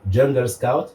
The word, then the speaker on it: Jungle Scout: a un qui s'appelle ce sont des logiciels américains donc je vais les prononcer en anglais ou jungle scout jungle comme la j jungle ok jungle scout jungle scout noté j ouais et le deuxième